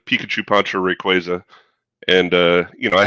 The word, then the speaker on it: Rayquaza: It's pronounced Rayquaza. Pikachu poncho Rayquaza.